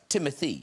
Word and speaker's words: Timothée: It's pronounced Timothée. It's whatever you'd like. Because I always thought, I don't know if you guys, I thought it was Timothée because of the double E's at the end. It's supposed to be, but